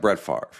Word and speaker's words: Brett Favre: okay it's just like Brett Favre right it's not pronounced the way it's spelled section five a when